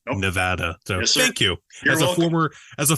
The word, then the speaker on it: Nevada: one says it right everyone says Nevada and it's not Nevada it's Nevada so thank you as